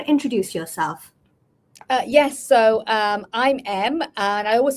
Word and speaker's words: Emb: Yes, I'm M, and I always say to people, if you want to remember my name, always think about who James Bond's boss is. M, pronounced as the letter M.